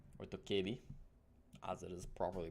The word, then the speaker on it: Dokkaebi: Does move back over the Dokkaebi. Or Dokkaebi, as it is properly pronounced.